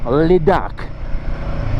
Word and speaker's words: Ladakh: To say Ladakh, if you go a little bit French, you'll get it right. Ladakh. And that's how you pronounce it. 100% guaranteed.